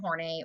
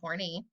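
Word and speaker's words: Horney: to talk about is Karen Hornay, or Horny, however you want to pronounce it.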